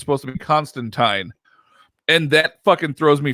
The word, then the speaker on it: Constantine: So apparently, when Alan Moore created him, it was not supposed to be Constantine. The name was supposed to be pronounced Constantine.